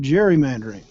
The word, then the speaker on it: gerrymandering: The hard G was soon softened to a J to produce the word gerrymandering, a political term used over and over for the past 200 years.